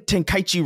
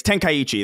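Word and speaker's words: Tenchi: that reminds me of the the the tenichi pronunciation everybody was like you're saying T you're say you're saying ten kaii wrong or whatever the and it's like it's tenichi they say it in the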